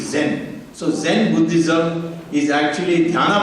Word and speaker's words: Zen: chinese character if you read as a japanese it is zen so zen buddhism is